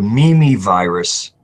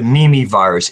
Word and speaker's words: Mimivirus: If anybody ever wants to Google the Mimi virus, as just a kind of a concept of